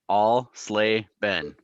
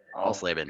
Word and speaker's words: Alsleben: If my wife was here, she would phonetically spell it out for you. Alsleben. Alsleben.